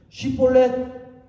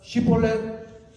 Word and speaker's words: 쉬볼렛: 바로 대답하지 못할 때 쉬볼렛 이렇게 발음하라 해서 에브라임 사람이 그렇게 바로 말 잘하면 발음하면 어 살려주고 시볼렛이시라고 발음하면 길르앗 사람이 곧 그를 잡아서 요단강 나르터에서 어떻게 했다?